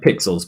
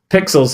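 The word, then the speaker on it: Pexels: It sounds like Pixels, but they spell it with an E.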